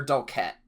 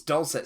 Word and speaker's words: dulcet: pronounce this one um is it dulce or dulchette dulce said don't say okay it's it's dulcet sirens tell us it's